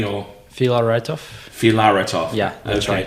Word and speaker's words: Filaretov: It's Filaretov.